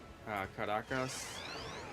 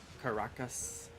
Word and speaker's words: Caracas: Yeah, wifey's from Caracas. She says it that way. Caracas is the American way to say it, but I only ever hear her say it, so it sounds like Caracas. That's how they say it.